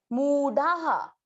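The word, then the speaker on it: मूढाः: मू, ये जैसे कल मूला शब्द था ना, वैसे ही म की मात्रा को दीर्घ करना है, मूढ़ाहा। ढ पे आ की मात्रा, विसर्ग को हा पड़ा, मूढ़ाहा।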